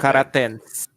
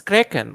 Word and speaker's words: Kraken: Karatens. Oh, the Kraken. Yeah. The Kraken. Oh, it's Kraken, not Yeah, it's Karatens. pronounced Kraken.